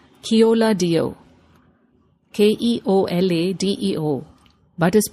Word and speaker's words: Keoladeo: It is spelled Keoladeo, Keoladeo, but is pronounced Keoladeo.